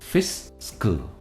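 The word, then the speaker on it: fiscal: फिस्कल, इसकी pronunciation है फिस्कल और स्ट्रेस जो है वो फी पर है।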